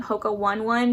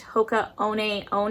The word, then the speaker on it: Hoka One One: of my past videos I was calling them Hoka One One because I thought that's how the brand was pronounced, because it's spelt, you know, O-N-E, but they actually are pronounced Hoka One One is the correct pronunciation of the brand.